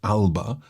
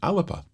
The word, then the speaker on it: Alba: scotland it looks like alba but it's pronounced alipa so a little uh sound in between the l and the b and apparently this is